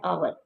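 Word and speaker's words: hour: एन आवर, एन आवर, इधर H silent है तो आ की अली मदा की साउंड आ रही है तो इधर एन यूज़ होगा।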